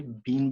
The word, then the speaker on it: been: American and British की pronunciation का यहाँ पे डिफरेंस है. बीन भी कहते हैं, बिन भी कहते हैं.